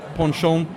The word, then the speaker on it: Penchant: and host of an event called penchant or han-shan if you're if you're pronouncing it correctly but we're a sort